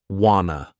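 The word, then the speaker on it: wanna: about this clip is how Adele pronounces want to as Wana Wana this informal contraction is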